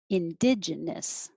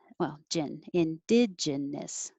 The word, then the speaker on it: indigenous: Indigenous. Indigenous. I should actually be saying gen instead of gin.